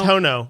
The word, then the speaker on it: Hono: API with h you say hono hoo it's hono we've been saying it wrong I I like